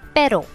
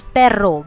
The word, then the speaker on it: pero: For that the word is pero. Now remember, do not stress on the word R. Do not say it as perro, because the meaning of perro is dog.